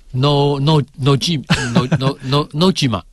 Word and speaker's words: 野島: No Jima 啊，发音非常正确。